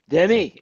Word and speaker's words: Denny: to uh um is I just point to my knee you know there that's how you pronounce my name you know yeah you're sitting in your den and with your knee Denny and That's it, you know.